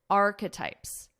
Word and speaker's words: archetypes: Listen to my pronunciation here. Archetypes. There are three sounds. We have arc. This ends on a K sound. Arc. This is just a schwa sound, as we call it in our throat.